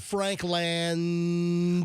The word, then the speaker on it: Frankland: It's not like Benjamin Franklin. It's Frank Land. F R A N K L- A N D.